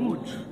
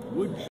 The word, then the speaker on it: Łódź: In Łódź. That's how you pronounce it. Yeah, Łódź. Łódź.